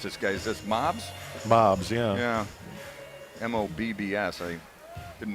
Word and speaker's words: Mobbs: How do you pronounce this guy? Is this Mobbs? Mobbs, yeah. Yeah. M-O-B-B-S. I didn't know if it was Moobs or Mobbs or what it was.